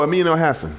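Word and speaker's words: Amin Elhassan: Oh, Amin El-Hassan.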